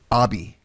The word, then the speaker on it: habit: It also is derived from the French word habit. I guess it says pronounced as abi. Abi, that's the French, how they pronounce Habit, abi in French, okay, which means clothing.